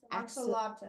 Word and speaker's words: axolotl: And I don't even know how to pronounce the word. How do you say it in English? In English. Axolotl.